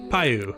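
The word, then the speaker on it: Piu: P-I-U, which I still don't know how to pronounce, but... Payu? It's Payu.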